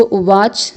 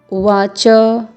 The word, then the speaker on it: उवाच: तो संस्कृत में जब आप पढ़ रहे हैं तो आपको इस बात का ध्यान देना होगा कि इसको उवाच ना बुलाएं, उवाच ऐसा पढ़ना है आपको।